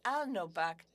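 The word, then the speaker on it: Alnôbak: So the Abenaki is pronounced Alnobak.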